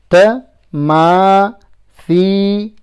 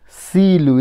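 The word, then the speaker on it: تماثيل: Tamathilu. Tamathilu. Tamathilu. Look at the tha. Don't pronounce it as seen. Silu. Instead of silu, it's thilu. Tamathilu.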